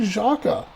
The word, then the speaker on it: Xhaka: Sinclair, Corleone, going forward to Xhaka, here's a good shot, and that's going to be a goal for Xherdan Xhaka. I'm sure I butchered that.